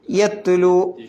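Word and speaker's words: يتلو: യത്ലു താനെ പ്രത്യേകം ശ്രദ്ധിക്കണം യത്ലു അവിടെയും നമ്മൾ നേരത്തെ പറഞ്ഞ ആ അലിഫ് വരുന്നുണ്ട് ആ റൗണ്ട് എബൗട്ട് ഉള്ള അലിഫ് അതിന് എന്തില്ല ഉച്ചാരണം ഉണ്ടാവില്ല യത്ലു എന്ന് പറയാൻ പോകണ്ട എന്നർത്ഥം പിന്നെ സുഹ്ഫൻ സുഹ്ഫൻ ഹായ്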